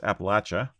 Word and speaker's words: Appalachia: It's pronounced Appalachia. Oh, fair.